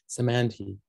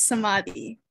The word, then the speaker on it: Samadhi: understanding of one another samanthee sorry i'm mispronouncing your name oh it's okay it's samadhi sorry yes uh no